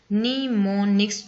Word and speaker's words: mnemonics: today in topic mnemonics it pronounced knee more next to help you improve